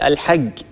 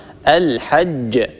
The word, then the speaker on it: الحج: مثلا إخواننا المصريين بدل أن يقول الحج يقول الحج هكذا، فينطق الجيم جا مثل حرف الجي في اللغة الإنجليزية، طبعا هذا لا يصح، لا ننطق الجيم هكذا، الصواب الحج، أج أج، ننتبه لهذا الأمر أيضا.